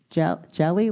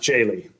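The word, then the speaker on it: Jehle: Mike, is it jelly, like peanut butter and jelly? Or It's pronounced Jaylee.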